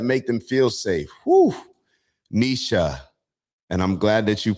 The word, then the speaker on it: Nietzsche: Nisha. And I'm glad that you put the pronunciation there as well. Nisha.